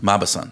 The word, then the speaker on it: Mauboussin: My next book, and I'm going to probably mispronounce the author's name, and I apologize for that, is Think Twice by Michael Mauboussin. Mauboussin.